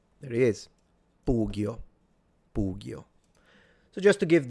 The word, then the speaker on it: pugio: And then the sword is a pugio with the u being long. There he is. Pugio.